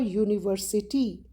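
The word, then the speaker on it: university: अब दिखने में ये वाउल है, लेटर वाउल है, यूनिवर्सिटी में यू लगा है, लेकिन उसकी जो प्रोनाउंसिएशन है, जो उसका साउंड है, वो य साउंड है, जो कि कॉन्सोनेंट साउंड है।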